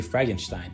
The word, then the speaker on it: Fragenstein: The next camp card is Fragenstein, or the correct pronunciation would be Fragenstein.